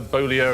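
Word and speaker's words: Beaulieu: 60 at scores but it's right yes Priscilla bolo and that is how she pronounced it became Priscilla Presley of course so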